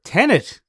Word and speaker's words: Tenet: It's pronounced Tenet. It said it in the trailer. Tenet! Tenet. It's not 10A at all. My whole I thought joke. it was 10A.